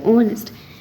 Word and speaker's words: honest: worker so that's why honest H is silent honest we don't represent